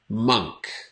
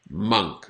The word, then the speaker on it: monk: But it is monk. Monk. Not monk. Not monk. The spelling is like monk, but the pronunciation is monk. Almost like a U sound.